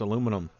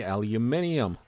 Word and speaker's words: aluminum: I'm an American. That's pronounced aluminum. If you're across the pond over in England, that would be aluminium.